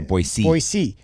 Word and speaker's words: Boise: boise if you see i even just said it wrong so if someone's listening to this podcast i just lost credibility we are not boise we are boise in in boise if